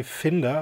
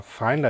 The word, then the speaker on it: Finder: We choose quite a rugged version of this power relay by Italian-based company Finder, or Finder as you might pronounce it.